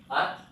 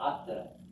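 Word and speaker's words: את: But this shva is not pronounced. It's not atta. It's just at.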